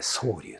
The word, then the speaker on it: 蒼瀧: 名を青き滝と書いて宗龍というもので、戦前